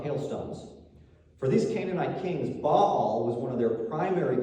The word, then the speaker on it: Baal: Now, you may have heard this name pronounced Baal in the common English way, but it's pronounced Baal.